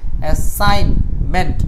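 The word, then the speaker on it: assignment: এখন দেখেন এই যে আই এর পরে জি এর উচ্চারণটা হয় না, বাক্যের মাঝখানে আই এর পরে জি এর উচ্চারণ বা এন এর আগে জি এর উচ্চারণ হয় না। অ্যাসাইনমেন্ট, মেট তো সহজ, আর এখানে ডাবল এস।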